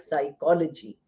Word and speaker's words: psychology: Any word associated with psychology like psychiatry or psychiatrist or psychologist or psychoanalyst are all words which have p silent.